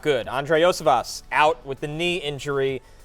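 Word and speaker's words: Iosivas: Higgins has missed, and again, before you even get to how do I pronounce Andre it? Osivas. Osivas, thank you very much.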